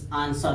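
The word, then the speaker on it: answer: इसे देखिए यस के बाद, यस के बाद आया है, यस के बाद डब्लू हमेशा साइलेंट हो जाएगा, जैसे आंसर हो जाएगा।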